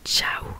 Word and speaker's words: ciao: Donc pour que ça fasse le son tche, ils ont rajouté un I.